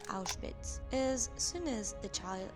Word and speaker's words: Auschwitz: Bruno cannot properly pronounce the name of the new home, but calls it Outwith, but we already know that the correct name is Auschwitz.